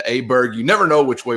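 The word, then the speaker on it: Åberg: that is ludvig aberg I heard himself call himself aberer over the weekend so I'm going back to Aber Berg you never know which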